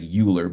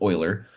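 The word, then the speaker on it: Euler: know it looks like uler but it's actually his last name is pronounced Oiler um very very very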